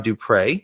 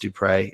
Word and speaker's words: Dupre: It's spelled wrong, but it is pronounced Dupre.